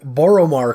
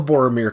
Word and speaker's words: Boromar: The first one is the Boromar Clan, which I'm probably always going to call the Boromir Clan. Is it spelled the same way?